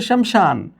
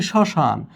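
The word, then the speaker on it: শ্মশান: এখানে আছে শমশান। কিন্তু আমরা বলছি শশান। তাহলে এই স এর সঙ্গে ম যুক্ত হওয়াতে সেই ম এর কোন উচ্চারীণ পায়নি।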